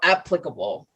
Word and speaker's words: applicable: yeah so i say applicable but it says here it starts like the apps on your phone so applicable like how you say